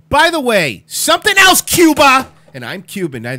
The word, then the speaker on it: Cuba: the way something else Cuba and I'm Cuban I say it a lot I believe it's pronounced Kuba did you notice something